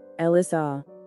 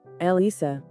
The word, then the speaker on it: Elissa: The common pronunciation is Ellissa. Ellissa. Ellissa. It can also be pronounced Ellisa.